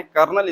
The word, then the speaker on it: colonel: colonel लिखा हुआ है, इसको करेक्ट प्रोनाउंसिएशन है, कर्नल इसको पढ़ा जाता है.